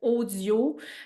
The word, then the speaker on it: OHDIO: Puis j'ai même découvert, Radio-Canada a fait une application de méditation qui s'appelle Audio. Là, je l'écrirai dans la description parce que ça s'écrit OHDIO.